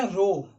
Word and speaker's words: rho: ये आपका हो गया रो, बोलने के टर्म में रो बोला जाता है इसको, RHO बोल सकते हैं।